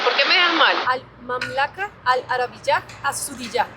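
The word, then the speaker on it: المملكة العربية السعودية: Al mamlaca, al Arab, a Zudillá.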